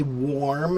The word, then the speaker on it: warm: So, here's what you need to do, cat. When you say the or I want you to look at my mouth. So, the front of my mouth has a round position and it's small, right? But the inside of my mouth is a big open cavity or or so I'm